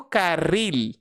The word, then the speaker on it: carril: Então o L no espanhol jamais terá o som de U. Então por isso que eu pronuncio carril.